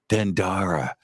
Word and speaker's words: Dendera: something there's something about dendera for me dendara dendera um yeah they corrected me like three times dendara and it has an H you guys the Americans spell it wrong I was like oh